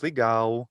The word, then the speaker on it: legal: portuguese where for example the brazilian word for cool is ligau but it's spelled like english legal um so they uh